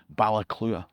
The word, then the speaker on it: Baile Clutha: That river runs through Alexandria, just past Galloway, all the way down to the town that the locals incorrectly pronounce Balclutha. Gaelic speakers will know it should really be called Ballaclua.